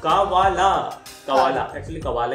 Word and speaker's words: Kaavaalaa: कावाला यस, कावाला। Actually उसमें double A double A double A तीन कावाला है वो।